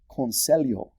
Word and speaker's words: conselho: For example, I don't think I ever really learned how to pronounce the Portuguese LH sound correctly. Like in the Portuguese word for advice. It's conselho.